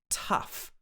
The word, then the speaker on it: tough: but this is because the o u g h sound in english can have many different pronunciations depending on the word so in the first word it's tough uh tough then we